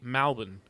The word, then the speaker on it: Melbourne: Um, or if you really want to sound like a true blue country Victorian such as myself self, you'll say Malbin. Uh, Melbourne.